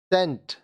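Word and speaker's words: scent: सी साइलेंट, यहाँ देखिए ये सब वर्ड्स में सी साइलेंट होगा। सेंट, इत्र, सेंट, इत्र।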